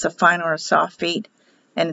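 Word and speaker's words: Sofit: They will pronounce Safit, and it's spelled S-O-F-I-T, but pronounced as an E.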